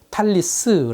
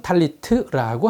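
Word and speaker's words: טלית: 유대인들은 기도할 때 사용하는 망토를 탈래 트 라고 불렀습니다 스파 라딘은 계속해서 이 이름을 사용 했는데 아쉽게 낮음 과일이 시에서는 이것을 탈리스 라고 불렀습니다 하지만 현대 히브리어 3는 탈리 트라고 합니다 자음은 같은데 몸에 발음이 달라지는 것이죠 설명해 드렸듯이 팔레트가 만들어진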